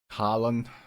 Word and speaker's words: Haaland: Holland, Holland. I think I it's mean, like kind of. It sounds like an O, Erling but it's spelled Haaland.